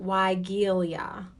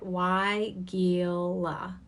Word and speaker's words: Weigela: Weigela is how you say it. Weigela.